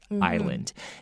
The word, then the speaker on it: island: was to defend hephaestus's island and defend it means to protect and ireland remember the s is not pronounced okay so it's not